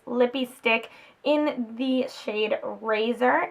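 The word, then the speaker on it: Rayzor: stick in the shade razor it's a mat one and it is the one that was in collaboration with its my ray ray so it's spelled razor are a ye zi o are it's the color that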